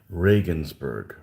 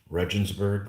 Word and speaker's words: Regensburg: word by the way frankensburg is pronounced regensburg regensburg okay all right that's